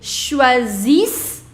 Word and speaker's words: choisissent: Ils choisissent. Remember, you don't have to pronounce ENT.